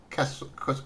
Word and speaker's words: Kesum: So, first of all, am I pronouncing that right? Is that Kesum? It's Yeah, we call it Kesum.